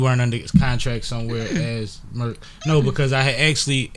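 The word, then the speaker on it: Merck: It's a pharmaceutical company by the name of MERK, but it's spelled MERK. Yeah, it goes according to how it's spelled, not how it was pronounced.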